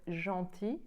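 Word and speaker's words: gentil: pronounced and the adjective Jean TI which ends with an L the L does not get pronounced even if it appears in the word careful so I hope this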